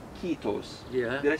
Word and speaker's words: kiitos: Well, it's more loose, and like I mentioned before, it's the emphasis always on the first syllable. Even if there's only one, like in kiitos, you have two I's there.